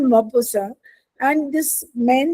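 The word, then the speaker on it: Maupassant: I mean T is there at द एंड of this the name but वी in French T को हम sound नहीं करते हैं। ठीक है? सो it's called मोबोसा and this man ही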